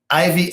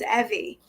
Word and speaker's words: Ivy: I present you Ivy. Well, good afternoon, Mr. Charles. How are you? And it's pronounced Evie.